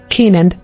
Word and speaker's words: Kenan: years and father Jared 16 Kenan origin Hebrew Kenan meaning possession pronunciation Kenan Bible verse Genesis 59 ESV when